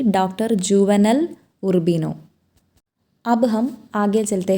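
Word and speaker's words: Juvenal Urbino: Sorry बच्चों, एक character का नाम मैंने रॉन्ग तरह से प्रोनाउंस किया। डॉक्टर जुवेनेल उर्बिनो नहीं है, सही उच्चारण यह है कि डॉक्टर जुवेनेल उर्बिनो।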